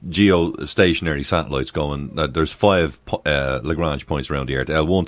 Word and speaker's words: Lagrange: And again, Lagrangian points, Lagrange, how was he pronounced? Lagrange. Yeah, no, it's Lagrange, you're right.